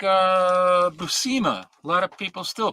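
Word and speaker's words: Buscema: tell you emphatically that his name is pronounced Busa because he's working are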